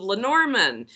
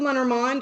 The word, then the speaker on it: Lenormand: I'm here with Becca from House of Lenormand.